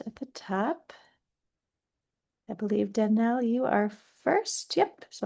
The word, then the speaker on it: Danielle: So it is pronounced Danielle, even though it's spelled funny.